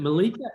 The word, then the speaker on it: Malika: Is it Malika? I'm sure I'm saying your name wrong, but no, that's correct. Thank you for the opportunity, by the way, and also this great session.